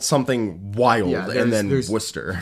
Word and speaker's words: Worcester: something wild and then Worcester 14 letters in the name and you pronounce two of them uh Worcester because we